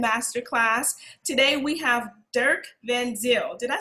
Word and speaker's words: Van Zyl: Today we have Dirk Van Zyl. Did I say that right? That's more or less correct. Van Zyl is the Afrikaans pronunciation, but that's fine, don't worry.